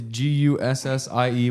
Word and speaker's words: Gussie: It's Gussie, which makes me think like bussy, but with a G, and then.